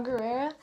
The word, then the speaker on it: Gerrera: Saw Gerrera.